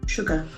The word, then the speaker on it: sugar: u g a r the letters s has got sh sound Sugar Sugar e ex p